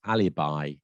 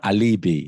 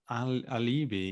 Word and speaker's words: alibi: I think this one most people know, but the pronunciation is sometimes confusing, and that is alibi, not alibi, as I've heard it being said. People alibi. Alibi. Yeah, it's alibi, isn't it?